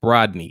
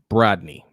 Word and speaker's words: Brodny: Danity wants to know, how do you pronounce Brodny? It's like Rodney, but with a B in front.